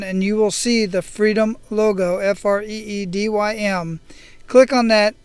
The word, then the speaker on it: Freedym: I am talking about a membership site called Freedom. It's spelled Freedym.